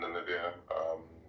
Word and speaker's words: Namibia: Yeah, Namibia. Yeah, Trump called us Nambia one time.